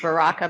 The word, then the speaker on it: Baraka: It's Baraka, but you're supposed to roll your Rs, you know, like and I can't do it, so I butcher it.